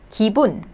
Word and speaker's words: 기분: The first syllable. 그 and E sound, so 기. And then the second syllable, the first consonant is B sound, B. And then the vowel, 우, so 부. And then the last consonant is N sound, so 분, 기분, meaning a mood or feeling, 기분.